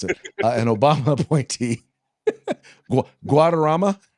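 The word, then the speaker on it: Guaderrama: Brown's opinion joined by joined by Judge David I'm I'm not even going to pronounce it. An Obama appointee Guadama. Guadama.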